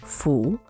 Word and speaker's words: 蝠: The Chinese character for bat, pronounced fu, has the same pronunciation as the character for good fortune and happiness. These words are homophones, meaning